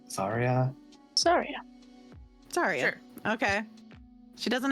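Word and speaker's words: Xairia: Zarya. Better than Xanax. Anyways, X A I R I A. Zarya.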